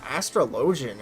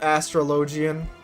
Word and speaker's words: Astrologian: astrologin i don't know i'm pretty sure they call it astrologian in in game but if it were real life i think it would be pronounced astrologin so you know forgive